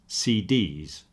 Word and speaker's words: CDs: CDs. You'll see if I say CDs, I'm pronouncing C and D with equal emphasis.